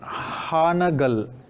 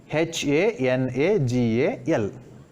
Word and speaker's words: Hanagal: For ha also we use a, for na also we use a. A plus a. For both pronunciations we use a only. Then we form the word Hanagal. Here you can find the vowel sound a as well as a. A represents both the vowel sounds a as well as a in Kannada.